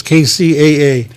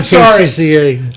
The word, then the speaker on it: KCAA: It's KCAA. KCAA. What did I say? The guy was just squirming in his chair. I don't know. I said KCCA.